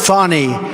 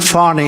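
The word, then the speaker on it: Fani: it's it's actually pronounced Fon it's f a n i but you pronounce it fonny a little French accent there funny but that's a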